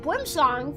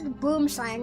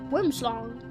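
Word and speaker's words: boomslang: Meanwhile, the boomlong from Africa is um that's boom slang. Apparently, it's pronounced boomlong and it's only pronounced boom slang in America because of course Americans can't pronounce it right.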